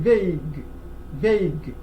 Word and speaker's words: vague: And then vague. We see that the final E is silent, and the U also is silent.